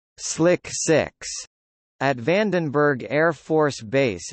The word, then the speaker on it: SLC-6: Space Launch Complex 6 SLC-6, pronounced Slick 6, at Vandenberg Air Force Base in California is a launch pad and support area.